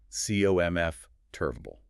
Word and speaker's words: comfortable: You're still giving that second syllable way too much respect. Yeah, you're trying to pronounce the 4. You have to abandon the spelling completely. The jaw drops heavily on C-O-M-F, and then everything else is just a lazy afterthought.